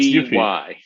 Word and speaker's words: Eufy: I guess, I don't know how it's pronounced. It's EUPY. It's Eufy.